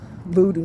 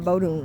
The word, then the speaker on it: voodoo: Now, just in case I said it wrong, the Baba told me I needed to be initiated into voodoo, not Bodon.